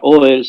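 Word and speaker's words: אהל: Ahora, en hebreo, la palabra Oel significa carpa, una tienda, una carpa.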